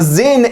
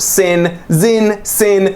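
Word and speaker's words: Sinn: Next up, another German watch on the list, the Zin 856 UTC, or Sin, doesn't matter.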